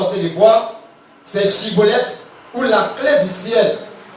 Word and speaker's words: Schibboleth: On leur disait, dites Chibolette. Oui. Et il disait Sibolette. Et il disait quoi? Cibolette. Oui. Car il ne pouvait pas bien prononcer.